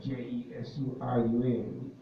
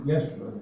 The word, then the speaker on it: Yeshurun: Now, when you see that word, was it spelled with a J, Jesurun? It's actually Yeshurun, and that is literally means upright one.